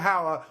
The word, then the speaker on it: Hauer: It rhymes the word Rutger Hauer with as many words that rhyme with Hauer as possible. It's fantastic. Hour, flower, it's all in there.